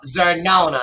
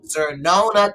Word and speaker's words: Xernona: if y'all don't know Zerona I'm GNA spell it because people get her name wrong it's XS in xylophone e r n o n a xernona Clayton she is one